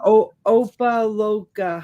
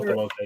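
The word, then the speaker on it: Opa-locka: Yeah, Opaloka. How do you say that? Oh, Opaloka, yeah. Huh? Opaloka.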